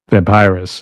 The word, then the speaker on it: Vampirous: Vampirous.